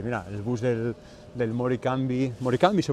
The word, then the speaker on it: Morecambe: ¿Morecambe se pronuncia? Morecambe.